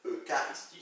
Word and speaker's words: Eucharistie: Eucharistie, ça s'écrit Eucharistie, mais on le prononce Eucharistie.